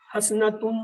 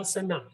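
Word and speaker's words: حسنة: حسنتن نہیں، حسنتن ہے، لیکن اسے ساکن کر کے پڑھتے ہیں حسنہ، یعنی جو آخری حرف ہوتا ہے اس کا تلفظ جو ہے رکنے پہ گر جاتا ہے، یعنی اسے نہیں بولا جاتا، اس لیے اسے حسنہ، حسنت یا ایسے کہیں گے.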